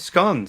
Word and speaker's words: scone: Yeah, there's different scones. So Of course, I mean, yes. when I was in London, I Different believe. pronunciations too, Darren. Scone and scone.